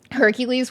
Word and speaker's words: Hercules: the Gods like sans's Hercules which is like Heracles in Latin or yeah the Roman pronunciation is Hercules whereas the Greek one is Heracles uh gree just don't